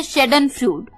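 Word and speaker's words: Schadenfreude: happiness मिले तो उसे हम का देते हैं शैडेन फ्लड शैडेन फ्लड एस सी हा ए दी आई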